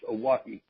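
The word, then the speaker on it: Oahe: it and it creates you're wrong or called a walkie Oh heh pronounced a walkie which yes you know Lakota Sioux language means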